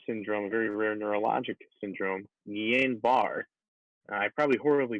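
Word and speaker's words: Guillain-Barré: a very rare syndrome very rare neurologic syndrome nien bar i probably horribly butchered that but it is spelled g-u-i-l-l-a-i-n-b-a-r-r-e so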